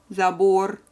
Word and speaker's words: забор: remember very quickly, and they are all ending on consonant R, and all of them have final syllable stress.